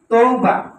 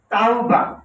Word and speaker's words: তাওবা: শব্দটা মানুষ বলে তৌবা, শব্দটা তৌবা না, শব্দটা হচ্ছে তাওবা।